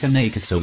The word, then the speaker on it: Cane Corso: Pronounced Cane Corso from Italian Cane Corso, also known as the